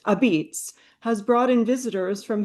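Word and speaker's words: Apizza: Our current exhibition, pronounced Abits, has brought in visitors from here and abroad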